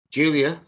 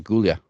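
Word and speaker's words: Giulia: just said it as gulia no it's Julia no it's pronounced Julia it's Julia with a G yeah and a bunch of extra letters sounds like she from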